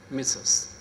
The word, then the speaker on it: Mrs: man we address her we write mrss and we address her misss all right that's one